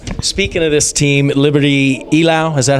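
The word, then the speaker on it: Eylau: But speaking of this team, Liberty Ilau, is that how you pronounce it? Ilu.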